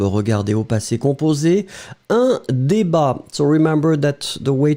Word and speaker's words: débat: Un débat. So, remember that the way to write it will be D-E accent aigu, B-A-T. Final T is not pronounced, but still it should be here.